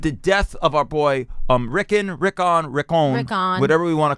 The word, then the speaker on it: Rickon: How do you pronounce Rickon again? Rickon.